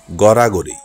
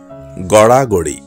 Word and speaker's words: গড়াগড়ি: ভিতরে সঠিক উচ্চারণ গড়াগড়ি আমরা অনেকেই ভুল উচ্চারণ করে বলি গড়াগড়ি না ড বিন্দু র এর ব্যবহার রয়েছে সঠিক উচ্চারণ হবে গড়াগড়ি সঠিক উচ্চারণ নৃত্য আমরা অনেকেই